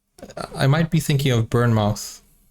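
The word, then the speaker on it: Bournemouth: might be thinking of burn mouth or burmuth that's how you say it bermuth sorry for my mispronunciation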